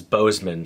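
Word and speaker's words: Boozman: a few weeks ago incumbent Republican senator John Bozeman is running for a third term also I mispronounced it in my Tick Tock but why is Bozeman spelled boozeman unlike most Republican Senators running for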